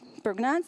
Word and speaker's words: Prägnanz: One of them is the law of Prägnanz. Are any German in the crowd? Am I pronouncing it right? Prägnanz? Yeah, cool.